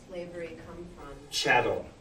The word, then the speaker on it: chattel: develop treatment around yeah chattel slavery okay channel is cattle rhymes with cattle so the idea shadow